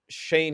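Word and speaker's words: Schoen: here to joe shane i believe i tried to figure out the pronunciation because when he was being introduced uh they kind of just mumbled it i'm not sure if they knew how to pronounce it but i heard him say joe shane so joe shane from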